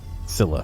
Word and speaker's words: Scylla: Scylla, fuck.